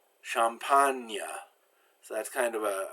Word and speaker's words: champagne: When G is followed by N, it's pronounced like the N-I in onion, kind of a strange sound. Magnifique, champagne.